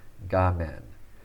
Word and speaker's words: 画面: But this is the Chinese pronunciation, gamen.